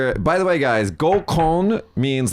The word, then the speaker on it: gokon: like group blind date, but it's spelled GOKON, and so the what do you say, the habit to read it as gokon, don't do that. Gokon means rape. Oh yeah, don't do that. Don't say it like that. Say gokon, please.